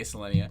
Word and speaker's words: Selenia: Selenia, Selenia. I got verification on the pronunciation of both these names, by the way.